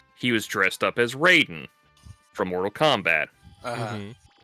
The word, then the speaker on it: Raiden: of those like you understand how hard it is also for me to pronounce the Mortal Kombat character's name as Raiden because that is like Oh yeah, Ryden. It's it's how they pronounce it in Mortal Kombat, which is a western franchise. The fact that it's mythologically wrong is irrelevant.